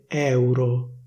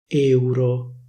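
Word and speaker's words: euro: Next, people from Milano don't say, for example, /nèutro/, but they say /néutro/. They don't say /èuro/, they say /éuro/. So, well, as you can see, the standard pronunciation would require an open /è/, but in Milan these words are pronounced with a close /é/.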